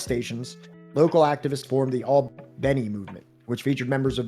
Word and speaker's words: Albany: Southwest Georgia city of Albany pronounced Albany by locals where Snick organizers and